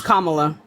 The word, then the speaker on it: Kamala: on also don't really care for Kamala it's Kamala Kamala I'm sorry okay thank you right so